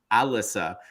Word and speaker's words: Elissa: So we have one of the comments is from an Alyssa, but let's say it's spelled Elissa, which it is, but it's pronounced Alyssa, but Siri says Alyssa.